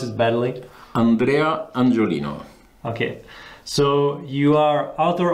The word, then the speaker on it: Andrea Angiolino: I'll be glad if you can say your name, because I suppose I will pronounce it badly. Andrea Angiolino.